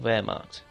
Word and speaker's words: Wehrmacht: 2 as uh the where marked that's how you pronounce it ver that's v e R marked German's a bit different like that um depending on